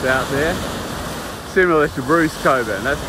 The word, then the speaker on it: Cockburn: or the coburn sound i think we politely call it the coburn sound but it's spelt cop burn sound sound and the suburb is cockburn or coburn as we call it so this is uh